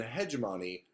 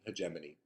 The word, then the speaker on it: hegemony: understand that culture and hegemony or hegemony orever you want to pronounce that word I always say hegemon but I say it incorrectly it's um hegemony but um and hemony are